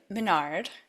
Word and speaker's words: Minard: So, Marne Manard, did I say it right?